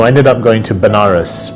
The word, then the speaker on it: Banaras: So I ended up going to Banaras, which is a place in India, sometimes pronounced as Vanaras, which is a place